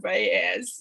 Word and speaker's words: Valles: And yes, because people always ask, as did I, it is pronounced Valles.